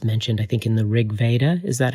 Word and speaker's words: Rigveda: Are you convinced by Wasson's argument that this is indeed the food of the gods mentioned I think in the rigveda.